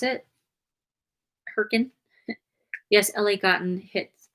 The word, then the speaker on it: Hurricane: Oh, is that how you pronounce it? Hurricane?